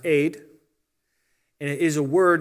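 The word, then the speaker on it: עד: something these two were these two letters it's like an a and a d sound are pronounced aid and it is a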